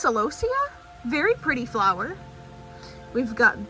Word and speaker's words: celosia: One of my friends gave me, I think it's pronounced celosia.